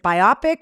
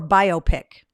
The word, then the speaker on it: biopic: Is it biopic or biopic? Because I've heard people pronounce it both ways.